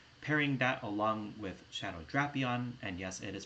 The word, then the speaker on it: Drapion: So pairing that along with Shadow Drapion, and yes, it is pronounced Drapion and not Drapion, with the standard moveset of